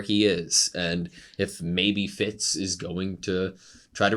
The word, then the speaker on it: Fitz: I guess why um Fitz silent fits the r is silent yeah there you go